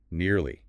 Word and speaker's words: nearly: Next, nearly. Sounds like nearly. Again, 2 syllables. We're nearly there. Avoid making it sound like nilly or rushing it.